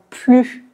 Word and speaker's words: plus: sont des phrases négatives donc on ne prononce pas le S et on prononce seulement plus plus attention à noter que